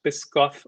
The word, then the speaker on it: Biscoff: blog cranky flyer removed for i think it's pronounced biscoff only bishop that's the cookies of course and